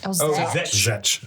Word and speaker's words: Szetc: It's pronounced Zetch, by the way. I think Zetch.